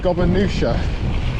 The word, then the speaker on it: Gobia: We reached the turn off to Gobia. Apparently that's how you say it.